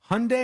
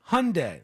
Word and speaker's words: Hyundai: Porsche or Porsche when Hyundai had this problem they did an entire ad campaign and they said Hyundai like Sunday Hyundai like Sunday and